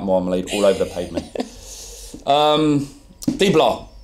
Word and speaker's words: Dybala: Dibala, that's it.